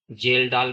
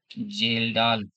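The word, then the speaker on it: Kjeldahl: एस्टेमेशन of nitrogen bye एस्टीिमेशन of nitrogen bye जेलडा बी एच एल जेलडा method का jail का हो चाहे फेस है लेकिन के साइलेंट रहेगा तो जेल डाल ही रहेगा आपका।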